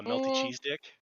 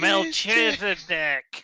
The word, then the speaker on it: Melchizedek: and i scream steven's name you scream uh melty cheese dick okay i'll teach you melchizedek okay oh that's what it's from the bible